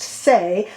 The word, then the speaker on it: Saie: the new concealer by the brand say s-a-i-e pronounced say this is the hydra